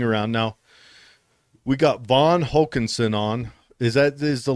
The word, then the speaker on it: Hokanson: i was looking around now we got von hawkinson on is that is the last name pronounced correctly yeah that's right all right and he's running